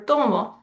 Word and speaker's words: tomo: The same thing is true for tomo. Yo tomo clases de español. The second to last syllable is stressed.